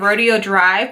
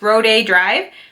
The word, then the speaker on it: Rodeo Drive: In my recent haul video, I said Rodeo Drive, but a lot of you were so sweet and helped me pronounce it correctly, and it's Rodeo Drive.